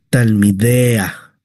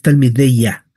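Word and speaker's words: תלמידיה: Talm, talmidea. Talmidea. No es talmideya. Talmideya. Ahí usted estaría pronunciando el nombre corto de Shemameforage, el tetragramatón, el nombre impronunciable, incorruptible. Entonces no es talmideya, es talmidea.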